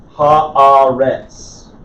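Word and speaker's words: הָאָרֶץ: Ha-aretz. It's ha-aretz, though. The metheg, or the saluk right there, tells me to accent that syllable.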